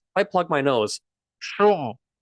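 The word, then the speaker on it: શું: This is the word shu. Shu. S-H-U. There we go. Shu, it means what? Now listen carefully to how I'm pronouncing it. This is shu. Shu. Notice it's very, very nasal.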